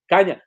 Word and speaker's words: Kanje: pronounce it is Kanya. Okay, Kanya Yes.